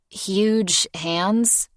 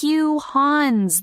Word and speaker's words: Hugh Hans: Huge hands. He squints at it before handing it to huge hands. Morgan giggles, peering over Gab's shoulder at the male. It's Hugh Hans. The G is silent.